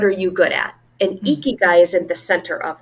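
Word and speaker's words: ikigai: so funny so this morning I was studying eeky guy have you ever heard of eeky guy before it's spelled i k i g Ai and it's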